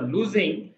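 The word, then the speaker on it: lose: After লুজিং, বন্ধুরা উচ্চারণ লস থাকে LOS, এর উচ্চারণ লুজ কিন্তু।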